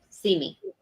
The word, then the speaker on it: CME: see me traveling and it's CME traveling but it's pronounced see me yep yeah their name